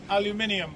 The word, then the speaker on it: aluminium: It's pronounced aluminium, by the way.